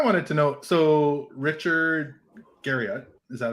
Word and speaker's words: Garriott: One thing I wanted to know, so Richard Garriott, is that how you say it?